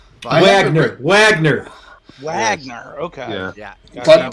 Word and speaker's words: Wagner: spell what you're saying Wagner Wagner Wagner okay yeah but the W is pronounced with the V sound yeah the Russian way I think smoke Steve